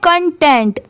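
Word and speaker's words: content: यहाँ पर इसे क्या पढ़ते हैं, कंटेंट, तो इस CON की साउंड क्या आ रही है, कन की।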